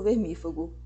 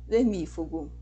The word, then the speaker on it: vermífugo: Eu já ouvi, eu sei que vocês também, pessoas falando de estereotipo, prototipo, e na verdade a pronúncia correta é com acentuação na antepenúltima sílaba. Estereótipo, protótipo, vermífugo.